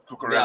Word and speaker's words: Cucurella: Is it Cucurella? Is this how you say his name? Cucurella, yeah, Mark Cucurella.